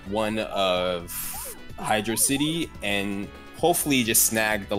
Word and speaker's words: Hydrocity: Also, hashtag Hydrocity gang. It's not Hydro City. Please learn to pronounce it right.